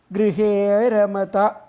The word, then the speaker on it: ഗൃഹേ രമത: അപ്പോൾ ഗൃഹേ അരമത എന്നുള്ളതാണ്, രണ്ടും കൂടി ചേർന്നിട്ടാണ് ഗൃഹേ രമത. അപ്പോൾ അതിൻ്റേതായിട്ടുള്ള ഉച്ചാരണം വരണം.